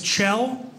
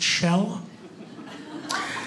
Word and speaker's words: Kjell: go my name is chell it's chell it's norwegian spelled k-j-e-l-l pronounced shell yeah i know that's